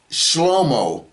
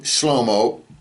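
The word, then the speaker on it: שלמה: And his name is not pronounced Solomon in Hebrew. Okay? His name is pronounced Shlomo.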